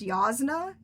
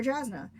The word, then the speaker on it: Jasna: And nobody told me the J's in that world were supposed to be pronounced with a Y, so obviously I call her Jasna.